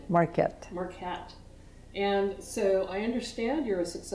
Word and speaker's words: Marquet: Marquet.